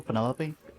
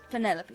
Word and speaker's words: Penelope: Is that short for Penelopey? Officially, yes, but I never can be bothered with all four syllables of it. Penelopey sounds a little ostentatious coming out of the mouth, don't you think?